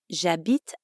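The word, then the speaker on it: J'habite: means i live it jabit is actually two words je which you already know means i and abit which means live in french when one word ends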